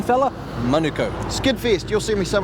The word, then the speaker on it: Manukau: Oh, pronunciation, fella? Manukau.